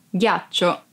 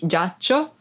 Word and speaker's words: ghiaccio: in una mano 12345 ghiaccio ice ghiaccio ice be careful because of you don't pronounced di sound like it be giaccio e minsk lytham vuoi